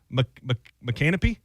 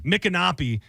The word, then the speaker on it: Micanopy: McCanopy? Oh, is that a place? Micanopy? Micanopy.